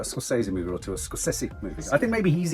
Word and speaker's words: Scorsese: yeah Ed machine maker says it's scess scess scosi the emphasis on each but if you say